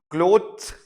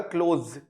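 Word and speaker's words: clothes: क्लोथ क्लोथ नहीं होता, क्लोज क्लोज, ठीक है, क्लोथ्स।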